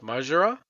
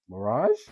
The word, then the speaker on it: Mirage: I know I'm probably pronouncing this wrong, which is Majra. Majra? Dwayne? Mirage. Mirage. Thank you.